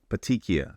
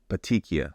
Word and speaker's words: Petechiae: Cal, if you can put the pronunciation on the screen so everybody knows how to say it. Petechiae. Say it with me. Petechiae. It's kind of like weirdly spelled, but it's not that hard to say.